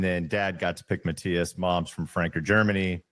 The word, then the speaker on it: Matthias: And just to avoid uh any confusion, the name is pronounced Matias, and the running joke in my family is that my dad doesn't even get it right anymore, and I'm an only child.